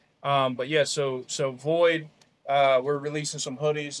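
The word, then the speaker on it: VXIIID: voxid v x i i i d it's pronounced void uh the Roman numeral 13 is in honor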